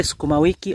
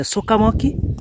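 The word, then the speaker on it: sukuma wiki: The people from West, you know, they pronounce it as a sukamoki. Sukamoki. When you tell them to pronounce sukumawiki, is a challenge, man, but you understand. Soil is not their language, yeah?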